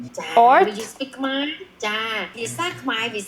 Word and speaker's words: Khmer: Khmer yeah I am Khmer Why is Khmer spelled with ER? because we under the French colony almost 100 years. That's why we influence some of the, even though we write like this, but our pronunciation French.